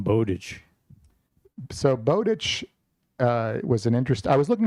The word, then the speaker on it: Bowditch: And in Stephen King's book Fairy Tale, he has a Bowditch, and it Howard Bowditch, and I think it must be pronounced Bowditch, not Bowditch.